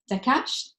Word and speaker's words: Daccache: urbanism i am talking about atelier ada anna dakash uh and you have to correct me later